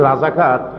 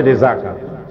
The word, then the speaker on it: রেজাকার: রাজাকার তো শব্দটা রাজাকার, শব্দটা হচ্ছে রেজাকার। এখন এটাকে বাংলায় উচ্চারণ করতে গিয়ে বাংলায় এটা রাজাকার হয়ে গেছে।